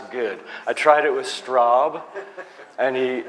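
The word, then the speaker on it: Straube: I tried it with Straub. And he he rhymes with probe.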